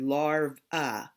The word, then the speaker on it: larvae: one say the word larvae in with some scientific terms to make the word mean more than one one we add the a sound at the end like when I talked